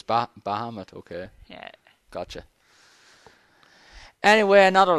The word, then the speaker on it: Bahamut: I was calling him Baramet. There's not even an R in it, but in my head I'd just been calling him the name wrong for years.